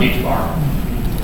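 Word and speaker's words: ħ: It's pronounced h bar.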